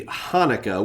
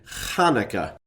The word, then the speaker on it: Hanukkah: It would be pronounced with a throat-clearing guttural KH sound. So rather than Hanukkah, it would be Hanukkah.